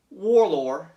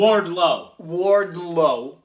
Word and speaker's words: Wardlow: John Moxley realized Warlord. Am I saying it correctly? Wardlow. I'm going to make sure. It's very close to Warlord.